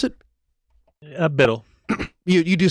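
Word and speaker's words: BDL: He is the host of Big Daddy Linux Live, or how did you pronounce it? Biddle. You do say Biddle, okay.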